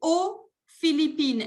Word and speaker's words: aux Philippines: Et la dernière, vous dites, j'habite aux Philippines. En este caso, el país empieza con consonante, por ende no se pronuncia la X.